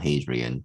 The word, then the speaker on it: Hadrian: that emperor hadrian uh i think is pronounced hydrant not hadrian that succeeded trajan he was